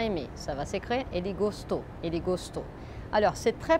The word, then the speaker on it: gostou: Ele gostou, gostou, c'est la dernière syllabe qui est la syllabe forte.